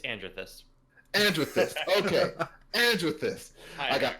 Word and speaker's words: Andrethyst: And then of course I got And Andreist is please tell me I'm pronouncing your name right. You're not. It's Andrethus.